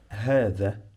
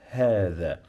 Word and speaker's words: هذا: You know the, like in English, when you say the, you pronounce the th. You must touch your tongue with your upper teeth to say the. But I'm gonna add here a. So هذا.